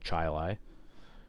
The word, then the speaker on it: Chili: the the dish but is in fact called Chai Lai uh yeah Charlotte you'd think that's Charlotte no